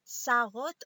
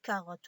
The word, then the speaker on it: carotte: donc on dit K, on dit pas sarotte, on dit carotte.